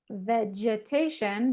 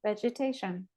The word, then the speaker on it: vegetation: way uh let's see how do we pronounce the G in this word thank you vegetation yeah exactly this sounds like a j vegetation because it is followed by an e vegetation good okay so let's